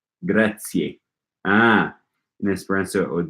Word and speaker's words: grazie: Okay, Jorge says, make sure you pronounce the final E in grazie. Ah, in Esperanto it would be grazie.